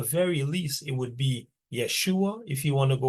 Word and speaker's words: Yeshua: 1550 okay and um the I um actually had the the Y sound so if you really wanted to say his name you would go with uh Yeshua or yua and you definitely would not say Jesus because again Jesus is